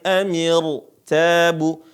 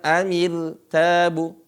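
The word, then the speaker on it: ارتابوا: Nah di sini cara bacanya perhatikan afi qulubihim maradun amir tabu, bukan amil tabu.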